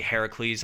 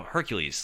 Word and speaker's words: Heracles: god territory like and they always say heracles and i know that's the proper pronunciation and the the traditional pronunciation right you know hercules like the golden fleece